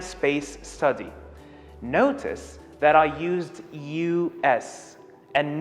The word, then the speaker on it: US: administration it's basically the u.s organization that is responsible for space and travel and space study notice that i used u-s and notice how i pronounced it i said u s i didn't say us